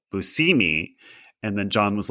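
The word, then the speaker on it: Buscemi: And John told me that he asked Steve how his last name was said and Steve said Busousimi and then John was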